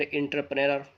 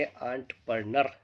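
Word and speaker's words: entrepreneur: इंटरप्रीनर पढ़ेंगे, कभी कुछ करेंगे, लेकिन ये सब के सब इसके प्रोनाउंसिएशन जो होते हैं गलत हो रहे हैं। हमें इसका सही से प्रोनाउंस करना सीखना होगा, ताकि हमारा दूसरों पर गलत असर ना पड़े। इसे पढ़ेंगे एंटरप्रेन्योर, यानी उद्यमी, यानी साहसी,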